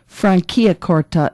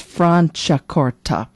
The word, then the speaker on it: Franciacorta: And I didn't study Italian growing up, so I kind of learn as I go with interviews that it's not pronounced Franciacorta, it's Franciacorta.